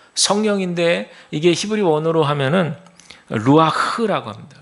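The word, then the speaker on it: רוח: 하면은 루아 흐라 합니다 루아흐 여기서 흐 발음할 때는 목에 있는 가래를 다 끌어올려서 발음하는게 한번 해보시면 좋을 것 같아요 루아이 한번 해보실까요 루아 맞아요 그게 맞 정확한 발음이 히브리어 발음 중에 그냥 우리는 흐 이래가지고 히자 루아흐 이렇게 하는데 그게 아니라 히브리어는 루아 이렇게 아주 강하고 세게 발음하는데 이것이 바로 바람이란 뜻이고요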